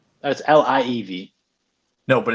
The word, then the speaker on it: Liev: Like Leeev. That's Liev. No, but it's pronounced Leeev.